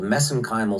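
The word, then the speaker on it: mesenchymal: for that but that's that's a little bit of an Irish accent on my part gotcha but anyway magnesium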